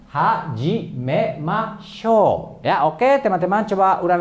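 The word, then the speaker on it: はじめましょう: Ya, jadi cara bacanya hajimemashou. Ya, oke teman-teman, coba ulang lagi. Hajimemashou.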